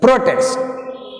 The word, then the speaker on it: protest: ప్రొటెస్ట్, ప్రొటెస్ట్, ప్రొటెస్ట్. See here, same word protest used as verbs. దీన్ని మనం వెర్బుగా వాడినాం అనుకో. Now the stress is shifted to the second syllable.